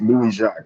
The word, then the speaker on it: Louis Jacques: No, it's Louis Jacques. It's Haitian, actually. So I think a lot of people down in Miami will, will recognize it a bit. All right, so Louis Jacques is the way we say it, right?